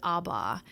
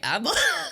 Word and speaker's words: ABBA: Damn, I've been pronouncing it wrong. I've always thought it was like ABBA.